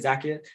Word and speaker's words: Zacchaeus: Is Zacchaeus, is that how you say it, Zacchaeus? Yes.